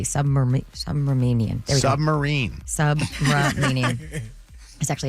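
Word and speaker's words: Subramanian: Submarinian.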